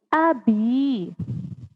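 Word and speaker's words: أبي: Abi. Ulangi lagi ya. Abi. Agak panjang ya karena di situ ada ya sukun, maka kita membacanya tidak hanya abi. Abi gitu, tidak ya. Abi. Lebih panjang.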